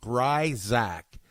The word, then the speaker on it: Grisack: that do not know the proper way to pronounce my name Brides Act even though spell Grif Spacey K the ayahs